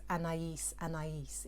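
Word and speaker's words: Anaïs Anaïs: a typical london an a no the correct pronunciation is anais anais it was a french perfume but it was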